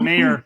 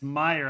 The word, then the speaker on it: Meyer: say scott meyer i i called him scott mayer when i introduced him and he was like nope it's it's spelled that way but it sounds it's meyer and i was like